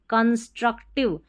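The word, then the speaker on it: constructive: Kans C ओ एन S Kans truck T आर यू see truck और टिब कंस्ट्रक्टिव यानी कि सुधार लाने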